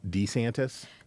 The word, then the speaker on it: DeSantis: who I did not know pronounce his name pronounces his name uh Ron D santis this was in the Casey um we're going